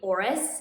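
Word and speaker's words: Oris: that i worked for and that would be auris which is spelled o-r-i-s so there's swiss watch brand with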